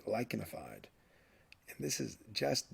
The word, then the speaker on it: lichenified: The CH here is pronounced like a K, lichenified.